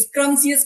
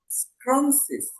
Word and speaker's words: scrumptious: बहुत सारे लोग sorry sorry for that, स्क्रम्सियस pronounce करते हैं। स्क्रम्सियस नहीं, इसका सही प्रोनाउंसिएशन होगा स्क्रम्सिस।